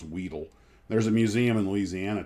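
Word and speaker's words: Wedell: way I learned it's not what else it's pronounced Weedle there's a museum in Louisiana to them where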